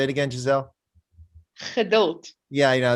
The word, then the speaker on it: Geduld: Geduld. Yeah, they don't know how to pronounce G's in Afrikaans. They Geduld, instead of Geduld.